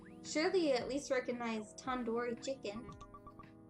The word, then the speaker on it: tandoori: Surely you at least recognize tandoori chicken. You're saying it wrong. What, really? Tandoori? Tandoori. The do isn't like door. It's like doo-doo head.